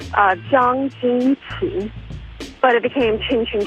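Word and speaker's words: Zhang: Originally in Chinese is actually pronounced uh Jang, but it became Ching Ching Chang, which is weird.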